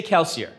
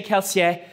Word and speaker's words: Kelsier: them in world right i'm american i say kelsier right i'm not going to say kelsey it just doesn't roll off the tongue but that's more like how they would say his name in world and so i will